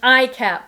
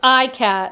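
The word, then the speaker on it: ikat: And this is a romper with an iCat print. So see this print? I'll hold it up closer. It's iCat.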